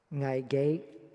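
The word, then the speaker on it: 危機: In Cantonese, it is pronounced ngai ge.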